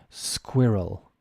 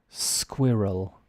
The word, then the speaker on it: squirrel: sounds right any idea the pronunciation is squirrel squirrel square like squid games Square role it's almost like an r-u-l squirrel two two syllables Square role squirrel there you go